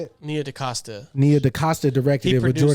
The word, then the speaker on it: Nia DaCosta: Nia DaCosta.